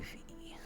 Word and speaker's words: Fi: I would say Fee mostly because how Japanese pronounce I.